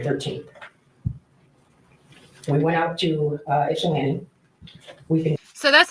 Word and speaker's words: Ypsilanti: We went out to Ypsilanti. So that's how you pronounce that.